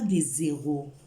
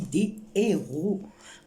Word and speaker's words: héros: On ne dit pas des zéros. Non, c'est autre chose des zéros. On dit des héros.